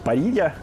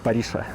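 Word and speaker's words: parrilla: испанский, в нем это произносится как Парилья, а в местном как Париша.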